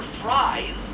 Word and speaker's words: Fries: which we see victor fries yeah for some reason they changed his name so now it's pronounced like french fries much better for hiding